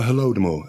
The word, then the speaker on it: Holodomor: The Holodomor, Holodomor.